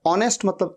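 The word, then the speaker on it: honest: आवर आवर मतलब घंटा ऑनेस्ट ओ से शुरू हो रहा है साउंड एच का साउंड नहीं आ रहा है ऑनेस्ट मतलब ईमानदार ऑनर यह भी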